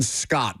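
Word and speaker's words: Skjodt: Simon Scott, but Scott is spelled S KJ O DT.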